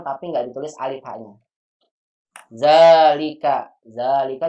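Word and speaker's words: ذلك: Zalika juga sama nggak ditulis alif. Zalika walaupun dibaca panjang.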